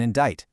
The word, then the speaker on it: indict: Or what about the silent C in indict?